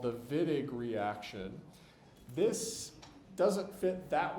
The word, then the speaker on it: Wittig: The Wittig is pronounced with the German W, so we pronounce it like a V. Don't say Wittig, or chemists aren't going to know what you're talking about.